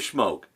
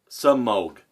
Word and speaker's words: Semogue: he - whoa so I always called to smoke but it's actually you know some oak so I will pronounce